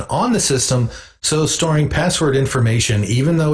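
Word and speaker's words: passwd: file and note that etsy password is spelled p-a-s-s-w-d historically encrypted password information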